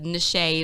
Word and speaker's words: Nashay: It's spelled like niche, but the Nashay is for finesse.